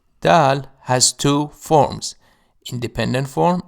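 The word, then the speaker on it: دال: Sarah Sarah the letter Dal D is a consonant it is pronounced like the letter D in the word deep it makes the sound Dal has two forms independent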